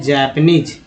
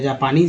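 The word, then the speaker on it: Japanese: जापानी को बोलते हैं जैपनीज या जापानीज भी बोल सकते हैं, लेकिन जापानीज बोलिए, ज़्यादा उच्चारण में यही है।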